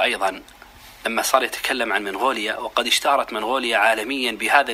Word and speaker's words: منغوليا: وقد سألت عن النطق الصحيح عند أهلها، فوجدتهم ينطقون بها منغوليا بإثبات النون.